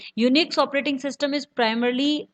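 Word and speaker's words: Unix: Firstly जानते हैं students यूनिक्स के बारे में। यूनिक्स pronounced as यूनिक्स इज a popular multi user. यूनिक्स, जिसे योनिक्स से प्रोनाउंस किया जाता है, एक बहुत ही लोकप्रिय multi user multitasking operating system है।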